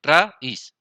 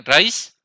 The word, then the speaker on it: raíz: Se ve, no se dice raíz, porque no suena así la palabra. Se lee raíz. ¿Sí que es diferente? Raíz que raíz.